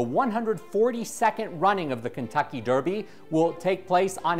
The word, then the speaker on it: Derby: a Look Back to the original Derby pronounced Derby from England in 1780 but First we'll